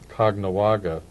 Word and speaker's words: Caughnawaga: Well, because the Jesuits set up a mission in the ancient longhouse village of Caughnawaga, or Ganawage in Mohawk. but in Fonda and elsewhere we pronounce it Cognawaga.